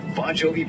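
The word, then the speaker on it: Bongiovi: would pronounce it correctly bonjovi is actually spelled b o n GI i o v i but pronounced the same as the band bonjovi Brad pasta SAU is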